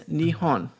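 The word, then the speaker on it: 日本: So, so, so Nepon is what some westerners if you are in Japan and you want to refer to Japan in Japanese it is nihon okay she's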